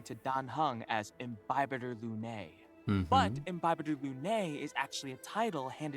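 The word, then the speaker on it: Lunae: hung Ry and bothers her Looney that's how you say it it's so cool dude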